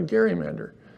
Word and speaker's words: gerrymander: we'll call it a Gary Mander and that's what that the word stuck what has changed of course is Across the Nation it's a soft G not a not a hard hard G but it's named after